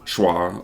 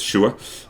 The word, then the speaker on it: Shua: And the Canadians pronounce it Shua a lot. Go fuck yourselves. Learn English. It's Shua.